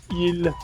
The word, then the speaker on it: ils: So, il et elle, et tu prononces pas le S. So, the S is not pronounced. It's just il, and there's an S there. You see that it's there, you can't hear that it's there. You don't say ils, you say il.